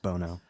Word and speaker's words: Bono: It's pronounced Bono.